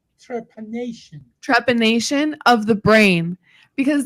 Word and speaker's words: trepanation: it and I found out that it was trepidation am I saying it right trepanation trepanation of the brain because then when I